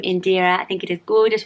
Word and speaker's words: Indira: say this right, so I think you say Indira with a stronger A sound at the end, whereas I think in Britain we might go Indira and focus on the E sound, but it's Indira, and I really like it.